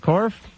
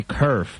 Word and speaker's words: Korf: Is it Korf? You said it right. That's it. I really want to say kerf because please don't. That's a woodworking thing.